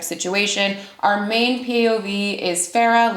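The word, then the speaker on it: Feyre: And this begins with our main protagonist, Farah, not spelled like Farah, aka Farrah Fawcett, spelled kind of like Faye, because we're dealing with Faye, and that was a little bit on the nose, but it's fine.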